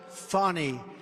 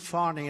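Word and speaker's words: Fani: It's actually pronounced Fannie. It's F-A-N-I, but you pronounce it Fannie, a little French accent there.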